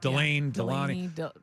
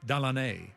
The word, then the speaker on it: Delane: Mansour, Delane, Delaney. I heard it something. pronounced by somebody from New Orleans, Delaney, which is that's my preferred pronunciation, but I think he goes by just Delane.